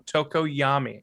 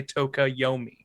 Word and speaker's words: Tokoyami: wouldn't say it wrong tokoyami i always want to say toca yomi toki yomi yeah because because his